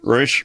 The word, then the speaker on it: Rouche: Rouche rhymes with douche.